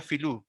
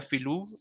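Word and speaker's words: filu: del español, orografía española, pero en Mapuzungún sería Filú, porque en Mapuzungún no se pronuncia las B, ni lo que nosotros conocemos como B o V, ellos no la pronuncian, ellos dicen, sería Filú en vez de Bilú, ¿ya?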